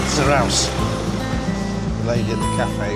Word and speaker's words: Zarautz: Independencia We know how to pronounce the town's name now, don't we? It means Zarauz. So, the T is at the end is a sound. Zarauz.